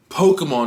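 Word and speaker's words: Pokémon: pronounce it it's japanese it's japanese it's po ke mon it's not ki it's k it's poker thankfully however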